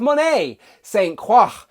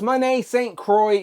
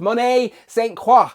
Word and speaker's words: Monet St. Croix: As in front of me we have Monet St. Croix. Not Monet St. Croix. She is of mixed heritage in the comics, including French. So that would mean her name is pronounced Monet St. Croix. So if you hear another YouTuber say St. Croix, politely tell them in the comments they would be wrong, alright?